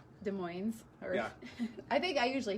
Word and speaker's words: Des Moines: i love it uh des moines yeah they're not hard asses they're not they're not hardest they're not zs either um so this has